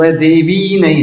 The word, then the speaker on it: देवी: विष्णु भक्ति प्रदे देवी, देवी को भी लंबा कर देते हैं, तो है देवी नहीं है, देवी छोटा।